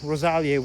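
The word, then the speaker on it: Rosaliae: So this is basically Latin, and of course itinerarium is the Latin for itinerary, whereas Rosalia with that diphthong AE, it's pronounced E in ancient Latin.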